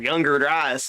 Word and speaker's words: Younger Dryas: is, I'm probably going to say that right, Younger Dryas.